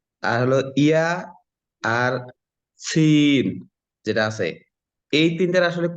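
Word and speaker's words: ث: সা জিহ্বার আগা সামনের উপরে 2 দাঁতের আগার সঙ্গে লাগিয়ে হালকা বাতাস বের করে উচ্চারণ হবে।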